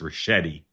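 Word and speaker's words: Ricchetti: I I will politely and and gently say tell you the name, his name is pronounced Rashetti.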